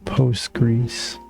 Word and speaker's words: Postgres: It is frequently accepted shortened to simply Post-Greece.